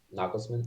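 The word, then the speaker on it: Nagelsmann: one that too cool replaced nagelsman nogglesmen however you want to pronouncement I'm pretty sure it's how it's pronounced knucklesman yeah okay Julian knucklesman and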